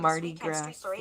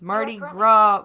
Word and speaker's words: Mardi Gras: by a Mardi Gras float during a come Marty grocery to New Orleans becoming the second person in dayz killed along a parade route during this year's Carnival season authorities said it's Mardi Gras voiceover you pronounced it properly in the headline